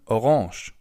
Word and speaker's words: Orange: orange or in German orange. As you can see the writing is exactly the same only the pronunciation is a little different instead of orange.